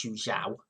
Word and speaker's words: Zhu Zhao: Questionable positioning from Zhu Zhao in goal. I think that's how you pronounce his name. It is Zhu Zhao.